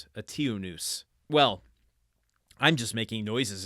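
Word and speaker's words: Eteoneus: I'm trying to pronounce that like Zeus, but it's noose. But then there's a T, there's an O before the noose, onus, and then a T before the O, so tionus, and then an E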